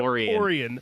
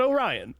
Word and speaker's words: Orion: Pamilia and Pomemelia and Orian, not Orion, which was my instinct and then I had to look it up.